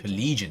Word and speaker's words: Pelegion: Pelegion, that's how you say it.